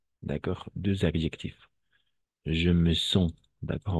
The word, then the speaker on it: sens: Je me sens. Et vous devez choisir deux. Vous devez choisir deux adjectifs. D'accord? Deux adjectifs. Je me sens. D'accord? On va prononcer je me sens. Pas sense.